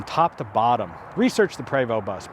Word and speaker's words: Prevost: to bottom research the prevost bus p-r-e-v-o-s-t the st is silent prevost it's a french company a lot of great